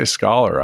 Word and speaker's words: Scollar: Now, with me today is Lisa Tamayo, who's the CEO and co-founder of Scollar. And when I say Scollar, I'm not necessarily referring to being educated, am I?